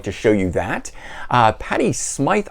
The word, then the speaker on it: Patty Smyth: show you that uh patty smythe i think is how she pronounces it some people i hear say patty smith but i think it's patti smythe never enough uh first